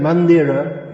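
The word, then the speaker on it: মন্দির: exceptions just like uh a word written mandira is pronounced mandir but in bengali you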